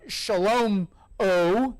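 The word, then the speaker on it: שְׁלֹמֹה: his particular name that that Solomon which which in Hebrew is essentially pronounced uh Shalom o Shalom o uh that Shalom o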